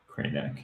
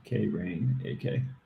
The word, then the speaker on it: Krainak: i n a k cranach k rain aka there we go that